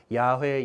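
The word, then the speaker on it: Yahweh: 적혀 있는 그 이제 아마 발음이 정확하게 어떻게 되는지는 정확하게 모르지만 학자들이 추정으론 야훼 야외 정도로 발음 되었을 것으로 생각되는데 그 유다인들도 이제 감히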